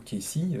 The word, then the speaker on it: Cayce: On a également Edgar Cayce, ou Casey, suivant si c'est prononcé à l'américaine, qui était un célèbre